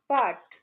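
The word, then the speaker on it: บาท: Bangkok, এবং এর মুদ্রা থাই বাট, BAHT, এটা উচ্চারণ বাট বা বাট।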